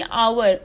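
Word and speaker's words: hour: अ क्यों नहीं लगा, क्योंकि आवर ओ से शुरू करता है ना, इसका साउंड वोवल साउंड करता है, तो इसमें हमेशा क्या लगेगा, एन लगेगा, क्योंकि एच हमेशा इसमें साइलेंट रहता है।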